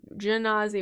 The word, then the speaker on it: gazi: character species fire gazi gazi we decided that was a soft G fire gazi I need